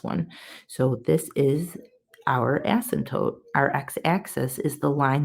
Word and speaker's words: asymptote: The x-axis, guys, actually has a name, and they call it an asymptote.